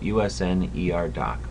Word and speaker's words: Usnerdoc: And today we're looking at Usnerdoc. When you see that username, that's how it's pronounced. USN like the Navy, ER like emergency room, and doctor.